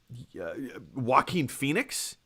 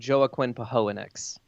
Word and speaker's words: Joaquin Phoenix: Joaquin Phoenix crushed it. I believe you're mispronouncing it. I think it's Joaquin Phoenix. Joaquin Phoenix. I'm embarrassed. It's a common mistake.